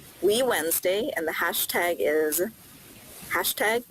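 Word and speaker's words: WeWednesday: this series of events we Wednesday pronounced we Wednesday and the hashtag is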